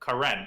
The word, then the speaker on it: Karen: So I have a friend whose name is Karen. It's pronounced Karen, but people look at it and they're like, "What?